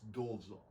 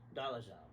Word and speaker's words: Dolezal: And in the old country, it's Dolzal. Dolzal. Dolzal. Dolzal. Ooh, sounds like something from Ghostbusters. Dolzal. Dolzal. This is where you do that. But here in America, we pronounce it Dolezal.